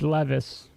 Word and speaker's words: Levis: that's no big deal it's Levis yeah if you look at the pronunciation if you look at the pronunciation of his name is Ashley I think the autocorrect keeps making people type Levi's it's funny it's not